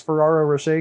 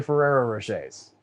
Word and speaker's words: Ferrero Rocher: Is he the guy who makes those Ferraro Rocher candies? I don't know what those are. Oh no! Reference goes over my head, bud. Okay, well, I mispronounced the name because it's actually Ferrero Rochers.